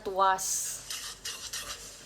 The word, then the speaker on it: TWS: Dia ada grup tulisannya TWS bacanya tuas. Aku tuh kayaknya emang enggak boleh deh bilang aku tuh enggak suka sama grup berondong. Bukan twice, tapi tu usas gitu bacanya.